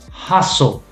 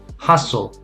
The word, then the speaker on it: hustle: we say listen listen hustle hustle fasten christmas yeah yeah so the t is silent st st also